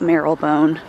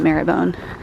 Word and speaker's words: Marylebone: It's spelled like Marylebone, but I think you pronounce it Marylebone.